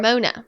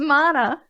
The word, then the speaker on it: Mona: her also lana or mona no mana says right here rhymes with donna oh that's so helpful that she put that so i knew it was mana oh mana okay is